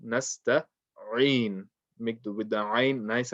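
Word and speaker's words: نستعين: Speaking of the ayn, make sure you pronounce the ayn as clear as you can. So don't say nasta'in. In is wrong because you're not reading ayn, you're reading a hamza.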